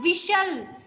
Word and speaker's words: whistle: कैशल ऐसे ही आपका होता है विशल, WHISTLE, विशल। विशल means सीटी बजाना, वहां पे तो टी साइलेंट है, विशल हम बोलते हैं, टी को नहीं प्रोनाउंस करते।